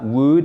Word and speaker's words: would: Donc, devoir et ça, would, vous le savez, c'est l'auxiliaire pour le quel temps? Exactement. Le conditionnel. Bravo. Donc, on a une diphtongue ici. On ne prononce pas le L.